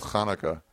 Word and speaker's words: Hanukkah: It's pronounced Hanukkah.